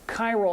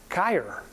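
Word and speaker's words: χείρ: And chirality comes from this Greek word for hand, which must be pronounced something like chir.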